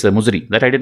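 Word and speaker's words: Muziris: This Muchiri is a different pronunciation of this Muzri.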